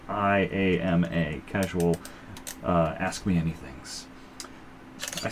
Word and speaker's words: IAMA: Our subreddit of the week, as I first pronounced it in my head, was Casual Llama. Because they have a picture of llamas, but it's Casual IAMA.